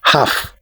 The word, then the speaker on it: half: the silent letter the silent letter in this word is letter L so we say half not half the next one the